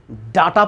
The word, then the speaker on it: data: Confuse होते हैं, DATA, इसे डाटा पर है या डेटा पर है। ये एक हिंदी वर्ड ही बन गया है। डाटा मीन्स डाटा कलेक्शन, किसी भी चीज़ की अगर आपको जानकारी इकट्ठी करनी हो उसे हम डाटा बोलते हैं। तो आखिर इसे हम डाटा पढ़ेंगे या डेटा पढ़ेंगे? डाटा भी सही है, डेटा भी सही है।